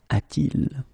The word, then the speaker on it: a-t-il: Okay, so you will get this form a-t-il. All right, so il a should become a-il, but then it doesn't sound nice, so it's a-t-il.